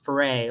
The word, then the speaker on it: Ferre: to remember your name do hip-hop foray like rhymes with hip-hop hooray I'm like so and